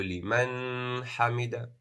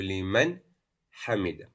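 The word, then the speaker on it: لِمَنْ حَمِدَهُ: It would not be Sami Allahu liman hamida. That would be wrong. You have to pronounce the Nun Sukun. You have to show it as Idhaar.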